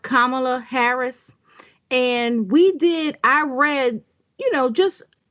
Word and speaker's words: Kamala: Okay, so her name is pronounced Kamala Harris.